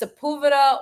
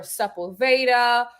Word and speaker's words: Sepulveda: But they say it different ways. Like it's Sepulveda or Sepulveda. Or I've said Sepulveda. I know people say that I say my last name wrong, but it's my fucking last name. How are you going to say your last name wrong? People are like, that's not how you say it in LA.